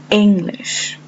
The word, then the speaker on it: English: In this word, the stress lies on the first syllable.